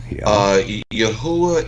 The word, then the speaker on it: Yahuwah: should be yahuwah yeah yahuwah is the ancient hebrew pronunciation for the name of god the creator creator of